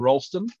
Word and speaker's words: Rolleston: Welcome to Selwyn and Rolleston, as it's properly pronounced.